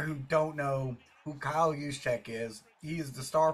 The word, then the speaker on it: Juszczyk: made special by for tayor by uh Christian yek spell it with me now why you s Zu